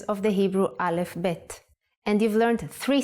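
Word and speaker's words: ב: version is like this if you leave out the dot bet becomes vet the sound of vet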